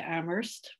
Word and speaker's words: Amherst: i'm pat wish i am very new to amherst i've learned how to say it without the